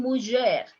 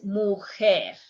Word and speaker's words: mujer: I'm not saying mujer, it's mujer.